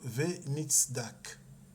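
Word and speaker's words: וְנִצְדַּק: C'est ce mot-là qu'on a ici, qu'on prononcera en hébreu Venitzdak.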